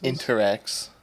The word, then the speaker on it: Interex: out there came back can you say that phonetically very slowly for me interx is that the part like the flotation devices interx yeah i n t r e ex that interx people okay